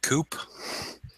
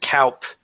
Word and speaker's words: coup: everybody had a good coop. And My chickens all left. I don't have a good coop anymore. Guys, it's pronounced Kaup.